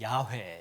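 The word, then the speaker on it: 야훼: 뭐에요 저기 서 있는 야외 에요 야외 왜 근데 이제 우리는 그 여호와 라고 주 롬 많이 듣게 되죠 근데 사실 여호와라는 바람은 정확한 발음이 아니고 하나님의 이름에 가장 가까운 발언이 야외 라고 하기 때문에 순복음 교회 다니는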